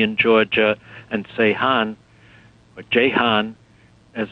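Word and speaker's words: Ceyhan: for bakut toy in Georgia and Sean or Jan as it's pronounced on turkey's Mediterranean coast and because this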